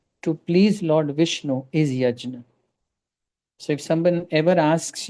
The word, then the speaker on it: yajna: I pronounce it as yajna. If you are not very comfortable with this term, you can use the colloquial term which is yagya. Uh the more refined is yajna.